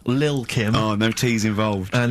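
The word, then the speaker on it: Lil' Kim: I see there it's a track by Little Kim but how are you pronouncing it I'm pronouncing that correctly Lil Kim oh no T's involved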